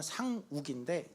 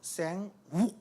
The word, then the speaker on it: 상욱: 그니까 그니까 제가 여기에 오니까 제 이름은 상국인데 제 이름을 영어권에서는 그 우리 식으로 발음하는 사람은 거의 없지요. 그니까 보통 생 욱 이렇게 W가 강해서 우해서 제가 듣기에는 생 우 하는 거 같아서 저는 굉장히들을 때마다 왜